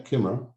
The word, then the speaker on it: Coomera: Yeah, Coomera. Coomera. Yeah, so one of the properties I have in Coomera, I walked into it and it has, big doorways, big kitchen.